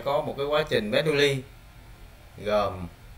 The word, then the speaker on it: Bernoulli: Đấy, tiếng Việt của mình đọc là Bernoulli ha. Bet nè. Nu ly.